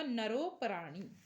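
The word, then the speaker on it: नरोऽपराणि: दिखाई दे रहा है, इसको अवग्रह बोलते हैं और यहाँ पर ये इस तरह से उच्चारण होगा नरोपराणि।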